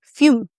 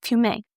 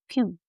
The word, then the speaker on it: fumé: So that's the ombre fume. Not fumé, fume.